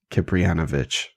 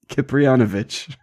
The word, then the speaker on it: Kipriyanovich: Yeah, just if you're interested, just look up Boris Kipriyanovich. It's spelled just like it sounds. Kipriyanovich.